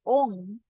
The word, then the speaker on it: Om: mantra for the crown which is own not all as an OM but Ong OMG that's how you pronounce it news that Mantra chant